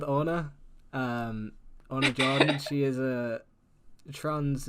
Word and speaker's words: Ona: i am here with is it anna is that how you say it oh no yeah okay we're here with anna um she is a